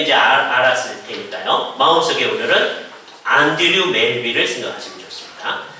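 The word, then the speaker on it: Andrew: 그러니까 이제 그걸 따라서 이제 스코틀랜드 사람이니까 안드류 멜빌, 오늘 마음속에 그 사람 이름을 딱 생각을 해보시는 거예요.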